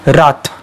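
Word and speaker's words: wrath: हे spelling बघा आणि याच्यामध्ये डब्ल्यू सायलेंट आहे, उच्चार होतो रॉथ. काय होतो? रॉथ, डब्ल्यू आर ए टी एच.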